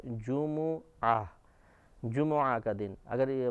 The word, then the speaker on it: جمعہ: تجدید کے پڑھتے ہیں، لیکن عربی تلفظ کے اعتبار سے جیم اور میم دونوں پر پیش ہے جمعہ، جمعہ کا دن۔ اگر